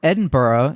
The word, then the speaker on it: Edinburgh: at Dogwood fire who is uh flying from Edinburgh notice how I pronounced that correctly um flying from Edinburgh to